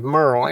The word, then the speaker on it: Merle: First, so we don't pull a gray barker, give me your name and spell it for me so I make sure we get it right. Name is Merl.